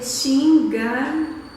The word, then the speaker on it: Chingachgook: Então, eu já fiz difícil isso porque é Chingachgook, tá? Eu chequei a pronúncia e isso, mas eu tenho que ler, porque...